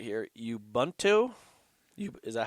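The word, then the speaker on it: Ubuntu: on, I'm going to say this correctly here, yubento.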